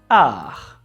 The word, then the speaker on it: art: written as art but in french we don't pronounce the last letter t there are many words